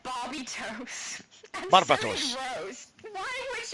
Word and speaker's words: Barbatos: Hey, my mum with correct pronunciation, Barbatos.